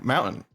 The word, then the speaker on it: mountain: Yeah, mountain. I say mountain like mountain. How it's actually supposed to be pronounced like mountain.